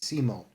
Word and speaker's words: Simon: main protagonists Simone although his name is written Simon but he's pronounced Simone for some reason and Kamina so